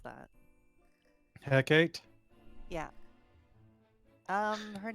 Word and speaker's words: Hecate: Ulric, how do you pronounce that? Hecate? Yeah. Her name is Hecate.